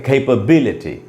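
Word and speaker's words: capability: तो कैप बी, और एल के बाद आधा अ है श्व साउंड, कैप बी ल, और ये है टी। तो हम इसको पढ़ेंगे कैपेबिलिटी, कैपेबिलिटी इस प्रकार से हमको उच्चारण सीखना चाहिए।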